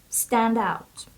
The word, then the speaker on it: standout: more significant than others stress of this word is on the first syab stand out Stand Out stand out so a